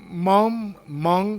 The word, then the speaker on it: mon: Okay, so keep in mind mom, the final N on Mong, you don't pronounce it. It's nasal.